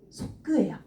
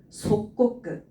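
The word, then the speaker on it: 即刻: 요거 음이 원래대로 쓰면은 속끄예요. 속끄. 근데 지금 발음이 어떻게 바뀌었냐면은 속꼬끄. 왜 그러냐면은요. 꾸로 끝나는 애가 카행과 만났기 때문에 지금 발음 바뀌었죠.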